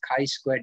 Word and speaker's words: chi-squared: use chi square written as g square but pronounced as chi-squared distribution here df which is degrees of freedom is n minus 1 sample size minus 1.